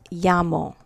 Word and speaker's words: llamo: This double L together, all right, is pronounced like a Y, like in the word llamo.